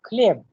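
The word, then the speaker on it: хлеб: Like kleb, when we write kleb, we write kh, l, ye and be. Be. So be is devoiced. In place of be, the sound of pe comes.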